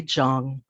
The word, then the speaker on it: Chang: my own last name most of my life I've been pronouncing my last name incorrectly come to find out it should be Zhang starting with my harobaji